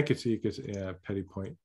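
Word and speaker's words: petit point: see it because yeah Petty point you might not pronounce the final T it would be Petty Point okay you guys got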